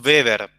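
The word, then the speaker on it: Weber: metro cuadrado esa unidad la llamamos beber en se escribe w de larga r ahora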